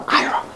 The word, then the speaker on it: Ayra: and only Ayra, and that's how they pronounce it from now, Ayra, not Ayra.